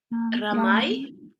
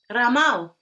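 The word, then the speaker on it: Rāmau: And how would you pronounce that? Ramai. One more Sorry. time. Ramai. No. Ramau. Ramau, right? The two.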